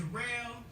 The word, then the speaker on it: Daryl: My name's Darrell. It's spelled like Daryl, but it's pronounced Darrell.